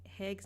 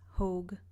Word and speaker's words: Hogue: I know it's Hogue, not Haig.